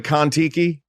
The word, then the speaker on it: Kon-Tiki: The Kon-Tiki. The movie? Do you know the Kon-Tiki?